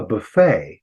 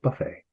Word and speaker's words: buffet: We'll have a buffet, which is really a French word that we got. In Britain, it's a buffet. What's going on here? They move the accent forward in the word.